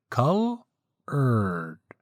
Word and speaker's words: colored: Colored, separated, of course, into two syllables. First, cull, and the second, erd. Cull, erd.